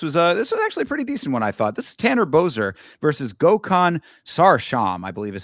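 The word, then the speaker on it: Sarıçam: This is Tanner Boser versus Gokhan Sarsham, I believe is how they pronounce that name. It's spelled Sarikam, but it's I believe pronounced Sarsham.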